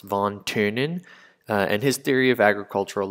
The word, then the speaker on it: von Thünen: And this lecture is about von Thünen, and that's pronounced von Thünen, and his theory of agricultural location.